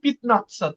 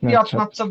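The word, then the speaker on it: пятнадцать: আর এখানে 15কে বলতে হবে কি পিত নাৎসাত। এই দেখেন উচ্চারণ হবে এরকম, পিত এখানে পিয়াত নাচ্ছাত নাৎসাত বললে হবে না।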